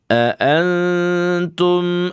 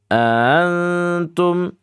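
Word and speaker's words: أَنْتُمْ: Jangan dibaca seperti ini. Antum antum. Nah, ini namanya ya dibaca dengan keadaan tasil ya. Enggak boleh seperti itu. Tapi dibacanya aantum. Aantum. Nah, begitu ya ikhfanya.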